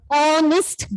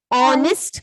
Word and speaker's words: honest: Honest girl. So, honest girl. Okay, so. A. It is honest. Even though it starts with H, I told you here, H is silent.